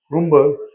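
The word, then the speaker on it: Brymbo: By the way, the Y in Brimber pronounced something like a U in Jumbo.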